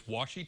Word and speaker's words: washi: Heather assures me I was pronouncing that correct. It's washi tape?